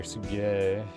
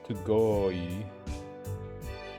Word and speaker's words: すごい: But I always hear Sugei in anime, but it's Sugoi. Sugoi. Sugoi. すごい Sugoi. I guess just because of their being animated, you don't always hear the exact syllables being used.